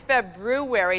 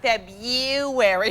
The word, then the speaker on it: February: And it's February, not February, for pity's sakes.